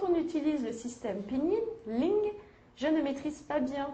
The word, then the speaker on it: ling: Le premier mot, on prononce ling.